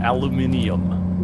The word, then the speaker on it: aluminium: You pronounced it that weird. Aluminium.